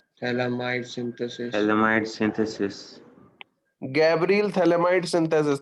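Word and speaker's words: phthalimide: Gabriel थैलेमाइड synthesis. थैलेमाइड में P silent है, ध्यान देना.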